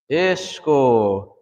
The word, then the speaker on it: ishko: Ishko. I hear sometimes people say ishko, ishko, but it's ishko, ishko. Remember, your mouth always gets rounded out when you say the O's, ishko.